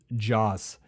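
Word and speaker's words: Jocz: name he went by it's Steve Joss is how you say his name I believe and he was their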